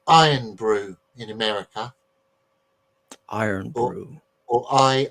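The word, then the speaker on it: Irn Bru: have a drink called iron Brew in America Iron Brew or i r n it's spelled i r n b r u is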